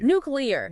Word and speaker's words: nuclear: The correct way. Nuclear. Nuclear. Just three syllables. Three syllables. That's it.